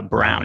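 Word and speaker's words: Braun: just recently found out it's spelled b-r-a-u-n but it is actually pronounced uh Brown and operon I heard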